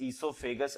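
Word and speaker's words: oesophagus: ईसोफेगस, जी हां, नाम है ये, प्रोनाउंस ईसोफेगस ऐसे किया जाता है।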